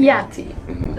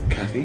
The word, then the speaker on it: Catty: Kiati. I need to pronounce it properly. Kiati. Because I didn't sing it. Catty? No, that's not what you sing the song. You say Kiati.